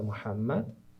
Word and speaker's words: Muhammad: o profeta do islamismo a pronúncia portuguesa é maum né Uhum mas se você falar Maomé para os muçulmanos não vão entender do que você está falando né que é o profeta Muhammad eh então a mensagem